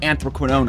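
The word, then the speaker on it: anthraquinone: chapter 3 all the way up to incomplete anthroquinone I looked it up that's how you pronounce it is chemistry we need to take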